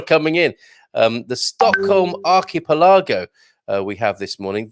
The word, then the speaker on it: archipelago: really it's definitely a it's definitely an arc rather than an arch archipelago and i will get